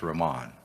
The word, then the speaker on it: Ramon: uh and i apologize i said roman but it's pronounced ramon uh mr bugler are